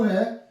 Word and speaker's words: who: WHO, यहां पे W silent है, लेकिन डब्ल्यू साइलेंट यहां पे आएगा तो H जो है वो डबल ओ की आवाज देगा, यहां पे ओ डबल ओ की आवाज देगा।